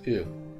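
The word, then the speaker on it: う: It's pronounced U. U is a short vowel.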